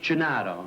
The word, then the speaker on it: Gennaro: It's pronounced Gennaro, right?